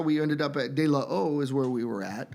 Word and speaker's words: De La O: That's how we ended up at De La O, is where we were at.